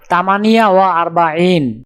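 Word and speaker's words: ثمانية وأربعون: উচ্চারণ হবে তামানিয়া ওয়া আরবাইন।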